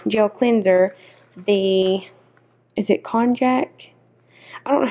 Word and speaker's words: konjac: And then they also sent me with the gel cleanser, the, is it konjac? I don't know how to pronounce that word. K-O-N-J-A-C.